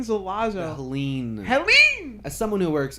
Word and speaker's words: Helene: On campus at Helen Zalazo. Helene.